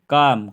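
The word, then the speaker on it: calm: नहीं पढ़ेंगे हम कलम काम काम काम बोलेंगे हम काम है ना नहीं बोलेंगे इस हम कालम नहीं बोलेंगे इसको काम बोलेंगे काम काम ऐसे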